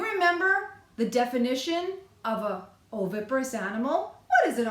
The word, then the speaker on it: oviparous: practice singing it oh I clapped 4 times it has four sets of sounds it has four syllables it starts with the letter O the O says its name in oviparous do you remember the